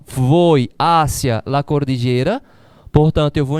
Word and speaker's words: hacia: É acentuado, a pronúncia é diferente. Aqui eu pronuncio hacía, aqui é hacia, a preposição é hacia. O verbo aqui é hacía.